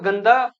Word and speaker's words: गंदा: यहां पे गंदा यानी आधा न बोल रहे हैं हम यहां पे।